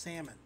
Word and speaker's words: salmon: I'm ready for some salmon why is it spelled this way it's pronounced salmon damn you I can't